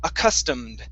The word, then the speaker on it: accustomed: accustomed accustomed customs yeah so we don't want to pronounce this e okay that e is not going to be pronounced okay we only pronounce the e when the root word ends with a t or a d okay so for example